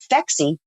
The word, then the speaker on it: Phexxi: So Phexxi, Phexxi, is because the pH is the mechanism of action. And then the XX chromosome is for women. And it doesn't hurt that it rhymes with sexy.